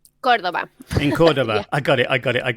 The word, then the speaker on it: Córdoba: She comes from, is it Cordoba, or do you pronounce it Cordoba? Córdoba.